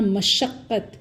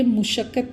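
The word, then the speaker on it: مشقت: इसी तरह मशक्क़त, ये मुशक्क़त नहीं है, मशक्क़त है।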